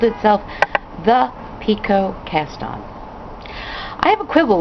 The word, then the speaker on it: picot: The T is silent, just as it is in French, and the word comes from the French pique, which means to make a point.